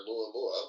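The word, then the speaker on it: ʻOumuamua: And then um yes, 2017 was when AmuA Mua flew by.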